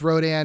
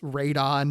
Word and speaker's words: Rodan: in names, you know, in America it's Rhdan. In Japanese it's Raidon, basically like a truncation of pteranodon. Raidon also radi also radiation.